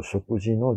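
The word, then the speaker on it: 食事: 소로소로 쇼쿠지노 준비요 시마쇼우까. 지라고 발음을 했죠. 쇼쿠지.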